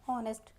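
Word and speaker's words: honest: ओ से पहले जब हमारा एच आता है तो एच हमारा क्या है? साइलेंट होता है। तो यहां पे हम ओ बोलेंगे यहां पे ऑनेस्ट।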